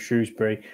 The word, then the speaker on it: Shrewsbury: Yeah, you're doing the BBC pronunciation of Shrewsbury. Which is, no one says it's always Shrewsbury.